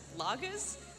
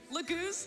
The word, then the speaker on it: Laguz: Shout out to the best Lagas. I don't know how to pronounce that. Shout out to the best Lagas King, Tibern. Laguz, thank you.